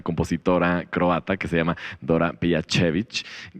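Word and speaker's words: Dora Pejačević: croata que se llama Dora Pejacevic, quien, tal vez lo pronunció mal. No, very good pronunciation, very good.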